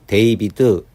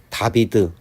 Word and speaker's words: David: DAVID라는 단어에서 알파벳 A를 A로 읽으면 데이비드 또는 데이빗, 알파벳 A를 부득이 외워야 하는 A로 읽으면 다비드, 다빗이라고 읽을 수 있다.